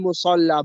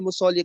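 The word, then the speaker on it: مُصَلَّى: Ingat ya di sini aina salihatun fil musalla, bukan fil musolli. Kenapa? Karena di situ ada huruf ya. Seperti huruf ya yang tidak ada titiknya. Makanya di situ tetap dibacanya fil musalla gitu ya.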